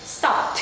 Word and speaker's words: stopped: It's like you're saying the p sound and then the t, but very fast. Okay? Stopped.